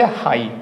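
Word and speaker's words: high: लाइट जी एस का pronunciate नहीं करेंगे। लाइट ठीक है या क्या बोलेंगे? हाई क्योंकि बस एच आई बच रहा है।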